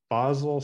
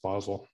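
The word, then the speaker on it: Basel: Ellen White was in bosel Switzerland I think that's how it's pronounced it's spelled like basil but I think it's pronounced bosel and um the Lord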